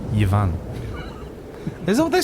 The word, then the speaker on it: Ivan: Or as they say, Yvan. Is that what they say? They say Yvonne? Yvan, yeah, that's how they pronounce it.